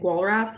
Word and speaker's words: Walrath: name is and I pronounce my last name walrath because uh since I'm American and I've just grown up here um it's um it's a German uh I had a